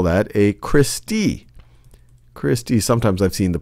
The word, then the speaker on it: cristae: one of them you would call that a christie christie sometimes i've seen the pronunciation of this is cristae cristai or christie that's plural for crista and these